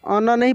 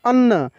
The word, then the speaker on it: अन्न: हम लोग क्या पढ़ेंगे अन्न यहां पे न आधा न और पूरा न देखिए ये मिलकर क्या बना है देखिए नन संयुक्त है तो इस न पे जोर लगेगा और आप उच्चारण प